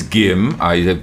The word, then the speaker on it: Gim: My name is Gim. Gim. The right way of pronouncing is Gim. It's okay because Gim is from a Chinese word Jim.